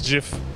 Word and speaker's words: GIF: comes to this so naturally from here it's jiff yeah yep alright I can't pronounce has other way gif no way well the sang I'll be there